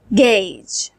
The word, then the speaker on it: gauge: and a as in gauge. In here, au makes a sound. Gauge.